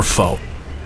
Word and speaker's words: pho: coffee spring rolls or Foe yes yes I pronounce it foe please listen to Kyle